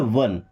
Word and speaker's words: one: Okay, ONE, इसे पढ़ते हैं वन।